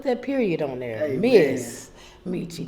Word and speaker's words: Ms. Meechie: Miss Meechie with an SMS period. Put that period on there. Hey, Miss Meechie.